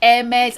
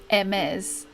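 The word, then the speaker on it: Hermès: I've never owned any Hermes. Neither have I. I think it's because it's French, the H is silent.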